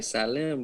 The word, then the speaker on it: Slim: guy named carlos salem so it sounded like sallam but it spelled like slim new mexico mexico city